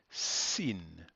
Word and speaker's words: Sin: is very similar but this one's actually called Sin Sin now the letter is the basic shape